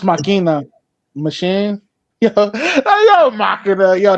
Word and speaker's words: Machina: It's pronounced Machina.